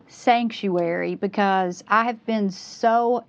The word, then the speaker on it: Psanctuary: an overview of P Sanctuary because this is not your average ordinary church. No, it's definitely not. Um, so first the P is silent.